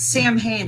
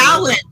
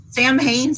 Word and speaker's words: Samhain: It's like, no, it's Am I it's missing- Samhain. Yeah, you're mispronouncing it. Sam Hain's like a stripper or something. You know, it's Samhain. Right. Yeah, it's written Sam Hain, but it is produced Samhain.